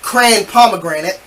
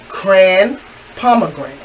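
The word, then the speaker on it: Cran-Pomegranate: But she couldn't even pronounce it halfway correct. She said, yeah, let me get the grand gamma pran that one. Say it with me, people. Cran pomegranate. Cran pomegranate.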